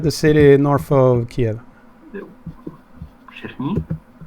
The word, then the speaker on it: Chernihiv: I'm gonna butcher the pronunciation here, but yes. Chernihiv. Yeah, Chernihiv. It's it's basically one region of Ukraine. Isn't that the city north of Kiev? Chernihiv.